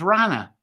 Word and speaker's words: hrana: for food, and it's hrana. And that is in modern language there, and it's pronounced as rana.